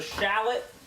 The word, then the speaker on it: shallot: All right, while that's cooking, we're dicing up a shallot. And by that, I mean s h a l l o t shallot. Not just like a guy from Boston trying to pronounce the city Charlotte.